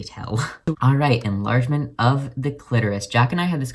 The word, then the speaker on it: clitoris: alright enlargement of the clitoris Jack and I had this conversation the other day about like how some people will pronounce it click Taurus and it makes him really uncomfortable and I've never